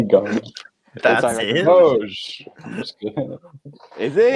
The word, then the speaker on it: Doge: I don't know how to pronounce anything. It's the one thing I know as a Zoomer is that it's Doge.